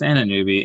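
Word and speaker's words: Anunoby: sheet of um pronunciations let's see what does my sheet say oh it only does it for our roster yeah it's anna newby in any case um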